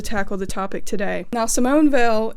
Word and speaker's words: Simone Weil: the topic today now Simone Vil if you have a problem with my pronunciation take it up with the fact that I'm not French I am am Appalachian though so just be glad I didn't say Simone whale Simone was a French philosopher